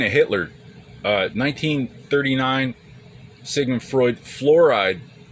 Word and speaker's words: fluoride: Speaking of Hitler, 1939, Sigmund Freud, fluoride. It doesn't rhyme with Florida, but it's the same exact word in Greek.